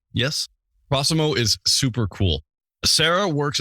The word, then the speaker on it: Prossimo: digital infrastructure called cimo I I hope I pronounced that right yes prossimo is super cool Sarah works as a Communications